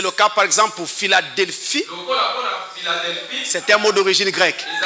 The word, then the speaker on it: Philadelphie: Mais cette lettre P va être prononcée F lorsque on a en face de nous un mot d'origine grecque. Ah, c'est le cas par exemple pour Philadelphie.